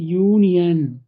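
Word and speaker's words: union: ஆனா எப்படி ப்ரொனவுன்ஸ் பண்றோம் பாருங்களேன், இது என்னது, யூனியன், யூனியன் அப்படின்னு வந்து நம்ம ப்ரொனவுன்ஸ் பண்றோம்.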